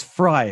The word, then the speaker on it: Frei: how to pronounce it is it fry it is fry because it's a derivative of the first half of my last name oh there perfect viva